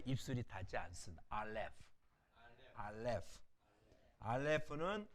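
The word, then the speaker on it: אָלֶף: 알렙은 음가가 이게 이응이잖아요. 알렙. 아가 아니라 이응이거든요. 그러니까 묵음해요. 소리가 나지 않습니다. 그러니까 모음만 읽으면 되죠. 모음만 읽고 소리가 나지 않는 거예요.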